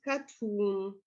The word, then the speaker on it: cartoon: Some French borrowings have retained their stress on the last syllable. For example, police and cartoon.